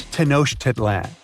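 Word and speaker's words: Tenochtitlan: It's tanoshedan. And Mayan cities are hard to pronounce too.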